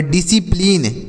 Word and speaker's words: discipline: लीन तो इसे पढ़ेंगे डिसिप्लिन। क्या पढ़ेंगे दोस्तों, डिसिप्लिन। यहाँ पर C साइलेंट है, डिसिप्लिन पढ़ा जाएगा।